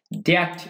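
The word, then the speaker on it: debt: Including সহ, including মানে কি সহ, সিগনিফিক্যান্ট ডেট ইস্যুস, এখানে ব্যাপক, সিগনিফিক্যান্ট মানে এখানে ব্যাপক, ডেট উচ্চারণ কিন্তু ডেট ডিইবিটি, এখানে বি উচ্চারণ হবে না, সাইলেন্ট যাবে।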